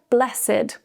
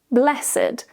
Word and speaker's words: blessed: A similar example to this is the word blessed with two syllables when it's an adjective, blessed. When it's a verb, blessed. The priest blessed the people or the blessed child. Now, it's an adjective. So, we change the pronunciation.